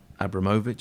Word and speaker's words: Abramovich: the road but since Roman Abramovich as I say that's apparently how you're supposed to pronounce it since he bought Chelsea